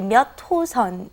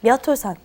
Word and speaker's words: 몇 호선: You want to say 몇 호선. It's kind of like it's not written that way, but that's how you want to pronounce it. So try that. 몇 호선.